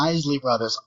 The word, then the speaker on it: Isley Brothers: Is it the Isley or Isley Brothers? I never learned how to pronounce it. Isley Brothers.